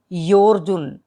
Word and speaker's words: योऽर्जुन: Last में जो लिखा हुआ है योर्जुन, एस साइलेंट है, ओ के बाद हमने र की आवाज जो ज के ऊपर र है, योर, योर्जुन। पश्यति योर्जुन, योर्जुन न को लंबा भी करेंगे।